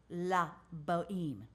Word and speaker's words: La Bohème: Opera is called lo la bohème you never pronounce the H come through that hair